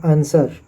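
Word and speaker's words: answer: एस डब्लू ई आर आंसर यहां पे डब्लू को साइलेंट रखा गया है नेक्स्ट है नेक्स्ट है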